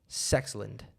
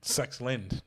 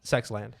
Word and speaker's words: Sexland: and darius garland so technically it is actually pronounced sexlund sexlind but that's just not but that's not that's not good enough when you see it on a t-shirt you're definitely reading it as sex land and you're asking yourself why are they on